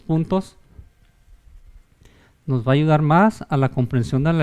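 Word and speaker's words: 马: mujer por ejemplo esta caballo que se pronuncia más y esta pájaro que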